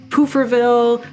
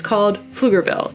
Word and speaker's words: Pflugerville: pronounce it like flunterville pooferville paflugerville all those things so I'm here to set the record straight the p is silent and it's called Pflugerville it's named after a